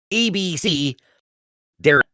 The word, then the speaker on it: abecedarian: ABC Darian is how she's saying it. ABC Darian. ABC Darian. So that is because you're learning the alphabet, ABC Darian.